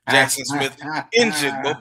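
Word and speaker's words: Jaxon Smith-Njigba: Jackson Smith and Jigba, but we ain't gonna get into that.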